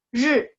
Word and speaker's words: 日: Ri, R-I bacanya ri, nada 4.